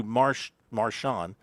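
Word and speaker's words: Marchand: Andrew Marshon, let's don't give it a French pronunciation. Andrew Marshon and he says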